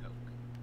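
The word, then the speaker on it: Koch: Oh, not the soda. K-O-C-H Coke.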